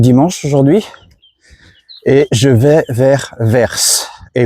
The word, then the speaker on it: Vers: On est donc dimanche aujourd'hui et je vais vers et oui verse comme le comme le le quoi comme la direction vert et ça se prononce verse.